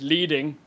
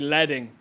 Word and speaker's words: leading: in the first verse I said that word leading which is the space between two consecutive lines it should actually be leading I'd only ever seen it written down I didn't know how to pronounce it when I wrote the song and someone criticized before but it won't rhyme if I don't say letting leading so sorry the world